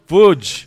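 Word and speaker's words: Łódź: Wudge.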